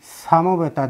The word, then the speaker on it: সমবেতা: এই জন্য ধর্মক্ষেত্রে কুরুক্ষেত্রে সমবেতা, দন্ত সটাকে বলেছি ছয়ের মতো উচ্চারণ, সমবেতা।